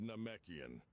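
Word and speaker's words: Namekian: It's pronounced Nomekian.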